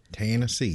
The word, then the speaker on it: Tennessee: you gotta say no you gotta say it like that it's like fantasy tennessee there you go taxi fantasy there's a there's an a in there right ten ten c yeah yeah yeah you